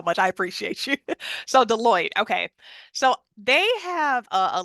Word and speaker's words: Deloitte: It's Deloitte. Deloitte. Thank you so much. I appreciate you. So Deloitte.